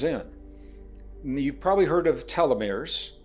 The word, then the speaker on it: telomeres: You've probably heard of telomeres. Some people pronounce them tieumirs.